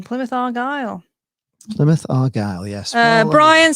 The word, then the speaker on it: Plymouth Argyle: So, Endura says you gained another subscriber just for properly pronouncing Plymouth Argyle. Plymouth Argyle, yes.